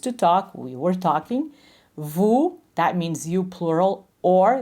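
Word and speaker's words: vous: talk we were talking Vu that means you plural or the formal respectful way of treating someone in French remember the S is not pronounced so that's the first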